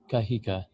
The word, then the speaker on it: Kahika: so thank you for that welcome it's kahega thank yous Hey look you're a celebrated musician